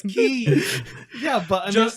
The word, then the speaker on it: Ki: But I mean, That's why if you say it's Goku's charging up his Kai, you're stupid. It's Ki. yeah, but I mean, Just like the other protagonist, okay, Kamoku Ki.